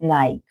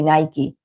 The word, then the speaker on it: Nike: same but here in Argentina we call it Nike. We call it Nike and that's not the proper pronunciation. It's actually Nike.